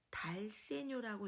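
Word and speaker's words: dal segno: 되는 겁니다 네 번째 아까는 다카포였고요 달세뇨라고 읽습니다 달 세뇨 달세뇨의 뜻은 세뇨로 가라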